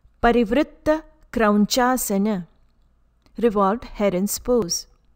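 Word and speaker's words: Krauñcāsana: parivritta krauncasana, revolved heron's pose. Letter N with a squiggly line on top sounds like Patanjali. Letter C for Sanskrit always sounds like ch, as in child.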